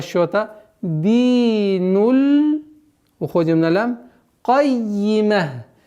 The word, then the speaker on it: الْقَيِّمَةِ: Кайима. Динуль кайима. Удваиваем с касрой.